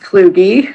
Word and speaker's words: Cluj: j2 discussion of the cluj center report on disinformation okay so it's actually pronounced kloogey clergy sorry thank you for